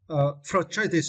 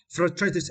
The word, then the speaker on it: frustrated: Frustrated, and for this words we need to stress the first syllable first. Frustrated, and for this, right? Follow American pronunciation, we need to stress the first syllable first. Frustrated, but according to British